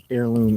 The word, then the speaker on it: heirloom: Heirloom. Yeah. Yeah. Heirloom. H E R L O N. It's pronounced heirloom. Uh H I R. like the heir to a throne.